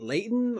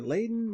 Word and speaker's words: Layton: me it was good was it layton or laden let me say hold on i think it's the second pronunciation the first pronunciation or the first um way you wrote it out yeah it is professor layton the the first uh